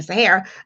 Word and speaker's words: Sahara: looked up um sarah's and that's how you pronounce my name sahara i just looked up